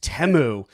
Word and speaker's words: Temu: commercial we were like we saying it wrong it's temu so I think it's